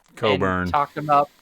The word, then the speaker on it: Cockburn: about Kofi Cockburn and the guy I can't pronounce his name. Coburn.